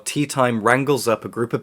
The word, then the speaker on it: Teatime: reminds people periodically that his name is pronounced teatime not tea time and that's a running